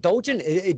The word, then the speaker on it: Dojan: Am I saying Dojan? Do you pronounce it with the J? Yes, you are. You got it correct. Most people say it wrong, but you nailed it. Well, it could be, yeah, it could be Dohan.